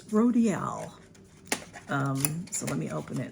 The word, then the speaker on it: Rodial: So, but it's Rhodile. So Rodial, I think that's the way you're supposed to pronounce it, is Rodial.